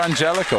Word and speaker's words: Angelico: I said it correctly he himself pronounced it with a J for real for real he's going for Angelico we're going to have to have a conversation about this I always believed it was anelo well a hell was